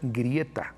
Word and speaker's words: Greta: bien es un poco osca pero los huecos pronuncian grieta no greta grieta tomberi greta tumber es grieta tomberi que